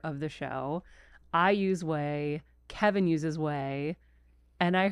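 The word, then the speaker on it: OUAI: that's so funny so no one knows how to say it because it's o u a I so I always called it we but it's way and I first bought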